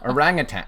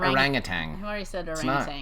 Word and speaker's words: orangutan: rang it's an orangutan now some people pronounce that like math you just did with a deity ah I hope nobody heard that orangutan orangutan orangutan but I've always not rang a tang it's not just sounds